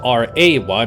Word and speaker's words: Rey: I think about it Rey Mysterio is r e y not r a y but it is Reay I mean it's pronounced Ray maybe we can make